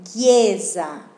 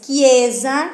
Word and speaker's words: chiesa: Después tenemos chiesa, que no es chiesa, el mismo sonido que nosotros tenemos, que, pero acá se hace con la CHI.